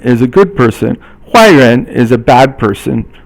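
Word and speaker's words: 坏人: 坏人 is a bad person. 坏 is fourth tone, and then 人 is second tone.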